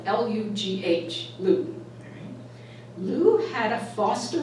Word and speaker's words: Lugh: That's spelled L-U-G-H, Lugh.